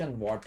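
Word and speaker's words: watt: और पावर का है ट ट नहीं कना बहुत लोग इसे ट कहते इसका सही प्रोनाउंस वट है डब् ए डबल टी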